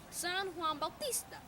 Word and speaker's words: San Juan Bautista: John the Baptist but is we pronounced in Spanish San Juan Bautista and it is settled winter solstice it looks like st.